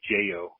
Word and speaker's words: Yeyo: in there they sell they say yo Joo so like the Y are a j and then we also learned that yo which you know Joo in in uh in